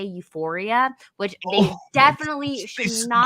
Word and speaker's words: Euphoria: are the funny thing is that they can't even pronounce it right. They meant to say Euphoria, which they Oh, definitely should they said not be that.